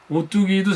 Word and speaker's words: 오뚝이: 그러다 보니까 이제 오뚜기냐 오뚝이냐 이게 사실은 이제 발음을 하면 그냥 오뚜기 똑같거든요. 기억 받침이 있어도 이 기억이 이제 뒤로 넘어가기 때문에 이게 오뚜기 똑같단 말이죠. 소리는 똑같아요.